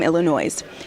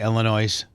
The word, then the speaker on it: Illinois: French word and the the s is silent, but I just say Illinois for my Midwestern.